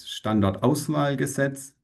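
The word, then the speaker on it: Standortauswahlgesetz: So the German pronunciation is standard oval gasets which regulates the search for a deep geological repository for high level waste.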